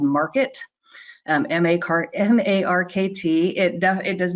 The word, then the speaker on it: Markt: It's going to be a great member benefit, and it really highlights the importance of your place in the rental market.